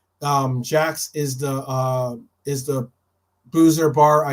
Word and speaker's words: Jax: I think there are two supporter bars in LA, but Jack's is and it's spelled Jax. Jack's is the boozer bar I go to in LA.